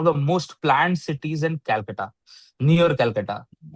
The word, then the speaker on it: Kolkata: Kolkata with a curs. That is the authentic pronunciation. I love Kolkata, man.